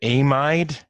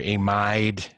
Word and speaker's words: amide: If I said amide, which has the exact same spelling, what would be wrong with saying it like that? Well, amides look like this. Carbonyl nitrogen. So it's just pronunciation. Ide for amide, amide for this one.